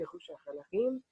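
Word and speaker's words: ירושלים: A minha pronúncia é Yerushalayim, que é a Jerusalém, que aparece aqui para você, a cidade de Gaza.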